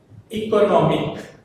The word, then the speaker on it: economic: If we add one suffix to the end, that is IC, the stress shifts from co to economic.